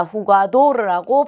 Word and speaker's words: jugador: 자, 후가도르라고 발음을 하는 게 맞고요.